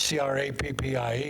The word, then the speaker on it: crappie: Well, you remember when you and I were anchoring together and you wanted to know how to pronounce the fish, C-R-A-P-P-I-E, and I told you it was crappie.